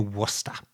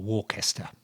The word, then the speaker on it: Worcester: walks at Huddington Court, which is near Worcester, or Worcester, for people who are looking for it and wondering, still puzzling over British English pronunciation.